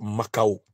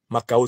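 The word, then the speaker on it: Mackau: célèbre le célèbre rapport makao qu'il faut lire makao s'écrit M a C K et qui reconstitue les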